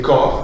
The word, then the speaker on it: corps: Mais aujourd'hui, vous avez corps avec un P. Ce P, qui n'entre pas dans la prononciation, est un souvenir de la graphie latine qui a été introduite à la fin du Moyen-Âge, justement.